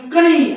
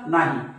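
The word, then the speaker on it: knee: शब्दाला काय वाचता तुम्ही कणी असं वाचतात का नाही कणी नाही म्हणत ना आपण याला नी म्हणतो बघा नी म्हणजे यात के चा उच्चार होत नाही मग केव्हा होत नाही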